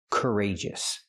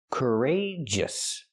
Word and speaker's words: courageous: Courageous. And then the close sound. Courageous. We see the stress is on the second syllable.